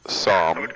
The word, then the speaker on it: Psalm: It'd be pronounced Psalm.